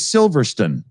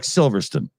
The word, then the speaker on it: Silverstone: Like Silverstone is Silverstone. Silverstone, yeah. Yeah, you guys can't even bother pronouncing the word stone. It just kind of falls off like Silverstone. It's like you're having a heart attack halfway through the word, you know.